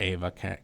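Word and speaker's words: Aave: is it yeah i think that's pronounced avi at least that's what i've heard yeah that's what the crypto teacher calls it but you can call it ava crash i mean that's fine uh yeah i just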